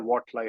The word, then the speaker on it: Watly: saying Watly or Watly? How do you say it? Absolutely, that's correct. It comes from water and lively. Lively water, Watly, you know.